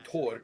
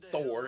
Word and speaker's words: Thor: hard ths, like in Tor. Which, by the way, Thor is not pronounced Thor; it's pronounced Tor, with a slight th but a harder t.